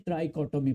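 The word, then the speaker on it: trichotomy: ये थोड़ा प्रोनाउंसिएशन इसकी अजीब है नाइंथ क्लास के स्टूडेंट्स के लिए। इसको पढ़ते हैं ट्राइकोटोमी प्रॉपर्टी।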